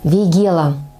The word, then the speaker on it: вейгела: Вейгела. Именно так правильно произносить название всем известного весенне-цветущего кустарника. Кстати, когда-то я произносила это слово неправильно, с ударением на первый слог.